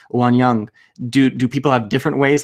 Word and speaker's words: Wanyoung: if I'm pronouncing it it's one young one yeah it's totally okay people pronounce it different ways all right so that's